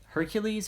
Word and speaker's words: Hercules: the strength of her hercules or heracles it's pronounced both ways i believe um forget